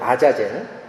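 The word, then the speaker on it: עזאזל: 원래 아잘젤이라고 되어 있습니다. 히브리의 발음이 아자젤.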